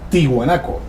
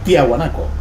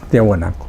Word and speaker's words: Tiahuanaco: había una confusión porque la primera traducción al pronunciarlo lo decían tihuanaco Recuerda usted locutores presentaban Aquí está tihuanaco resulta que era tiahuanaco o es tiahuanaco claro es tiahuanaco se presentó esa pequeña